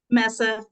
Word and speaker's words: Meza: up your last name what is your last name again Messa it's just really short Messa okay see I was